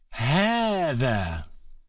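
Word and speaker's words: هذا: masculine word for this is in Arabic is Heather it is pronounced as if it has a long ER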